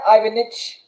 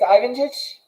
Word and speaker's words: Ivanich: last name too badly it's ivan ditch yes perfectly it will use you just said it perfectly it's fine so i